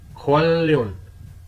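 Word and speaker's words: 관련: ख्वल्युन इस लफ्ज को प्रोनाउंस करते हैं ख्वल्युन एज per Korean pronunciation rule liquidation. Rule ये है कि अगर किसी लफ्ज के पहले जुज के पश्चिम में नियन या रियल आ रहा हो और उसी लफ्ज का अगला जुज रियल या नियन से शुरू हो तो नियन जो है अपनी साउंड देगा रियल में।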